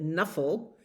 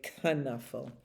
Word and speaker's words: Knuffle: canuffle Bunny and um Knuffle is a Dutch word and some people pronounce it Knuffle the silent k and some people say kanuffle um so today we're